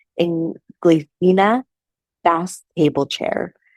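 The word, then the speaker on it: Inglesina: And this was the Inglacia, I'm saying it wrong, Inglacina fast table chair.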